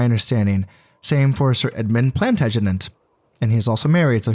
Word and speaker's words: Plantagenet: even though Sir Edward Plantagenet is no longer Plantagenet. Yeah, that's how you pronounce it.